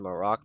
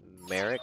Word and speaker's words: Merrick: I think I said Maroc before, but I think it's Merrick is how you actually pronounce it.